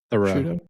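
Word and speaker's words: Theroux: Thoreau.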